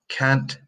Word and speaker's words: can't: I can swim I can't swim if you're in the habit of omitting that tea the deficits which is I can swim and I can swim it's very bad okay I something have